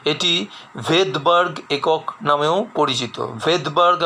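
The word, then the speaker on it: Svedberg: ভেদবার্গ আমি উচ্চারণ করছি V দিয়ে, কিন্তু এর শুরুতে রয়েছে S লেটারটি, এসটি উচ্চারিত হয় না।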